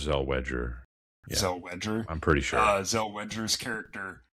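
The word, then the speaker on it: Zellweger: the Renee Zelwagger's Wedgers I think it's pronounced Zel Wedger.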